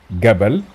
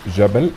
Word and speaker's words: Jabal: أمثلة, we said Gabal means mountain, or Tag means crown. In Fosha, pronounced Jabal and Taj.